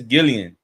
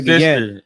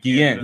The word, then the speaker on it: Guillen: You got Vanessa Gillian. Right. Vanessa Guillen. How you say her name? Guillen.